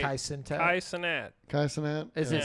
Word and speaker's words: Cenat: Kai Cenat. Kai Cenat? Is Yeah. it Sinat or Sintat? It's What is Sinat. it? Cenat. I always thought it was Sintat.